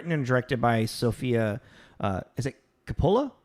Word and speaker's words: Coppola: Is it Coppola? How do you pronounce their last name?